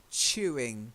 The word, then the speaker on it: chewing: To chew, chewing. You've got to get the ch sound, like church.